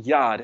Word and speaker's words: Yod: It is actually pronounced Yad, and it means hand.